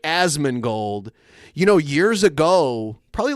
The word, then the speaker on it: Asmongold: ever talked about Osman Osman gold is that how you say his name as I say it ason gold as it's an a not an O you're right asman gold you know years ago